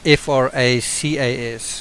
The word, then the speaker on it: fracas: but in fact it's F-R-A-C-A-S. Now the way I would say it is fracas. I don't know whether other people would pronounce it fracas.